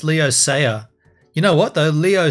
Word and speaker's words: Leo Sayer: the cover image uh I always thought his name was Leo Slayer have I been saying it wrong no it's Leo saer you know what though